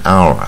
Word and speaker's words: hour: 、啊、比如说 in an hour 在一个小时，可是